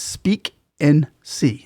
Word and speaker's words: Speak and See: It's Speak and See.